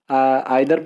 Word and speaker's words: either: कुछ लोग इसको आइदर पढ़ते हैं, कुछ लोग नाइदर पढ़ते हैं और कुछ लोग ईदर और नीदर पढ़ते हैं।